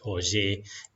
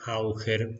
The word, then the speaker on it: Auger: en estos temas y todo el mundo lo conoce por la pronunciación más o menos en francés que es OY. No digan Auger porque los van a mirar con cara rara.